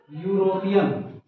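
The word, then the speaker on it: European: उच्चारण किससे हो रहा है, या से।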